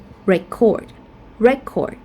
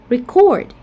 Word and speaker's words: record: For example, like the word record as a noun, but record as a verb, or rebel, or rebel, or present, or present, or project, or project.